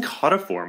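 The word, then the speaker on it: caudiciform: of us do that oh you were saying caught a form weren't you that sounds right yeah okay you know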